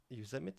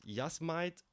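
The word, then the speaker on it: Yosemite: Lake Tahoe Y is one how do you pronounce it yuse so the water can warm up a little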